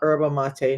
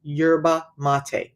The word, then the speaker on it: yerba mate: And no, it's not yerba mate. No, it's not. It's yerba mate. That's how you say it.